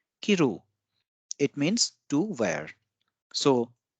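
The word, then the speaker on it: 着る: And if we give stress on the second syllable, it will be pronounced as kiru.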